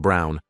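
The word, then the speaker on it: Braun: And I reminded her of the historical figure, Eva Brawn, pronounced Brown, wife of probably one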